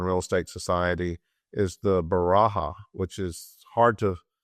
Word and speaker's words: Beracha: Also at the American Real Estate Society is the Baraha, which is hard to pronounce and even harder to spell, but it's BERACHA, Baraha and Johnson Housing Ranking Index, BERACHA Johnson Housing Price Index, ARES.